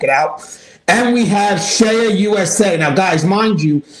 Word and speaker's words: CEIA: And we have Shea USA. Now, guys, mind you, Shea USA is spelled CEIA.